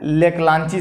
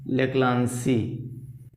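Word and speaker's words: Leclanché: लेक्लांची, ची लिखो चाहे सी लिखो, अपना अपना अलग अलग जगह अलग अलग प्रोनाउंसिएशन है। लेक्लांसी अंग्रेजी में लिखा जाता है CHE, लेक्लांसी सेल।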